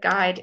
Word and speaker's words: guide: you know that but guide is as a silent you and I'm saying to